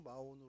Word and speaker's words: 마온: 예, 히브리어로 마온이라고 하고요. 영어로도 마온으로 이렇게 발음을 합니다.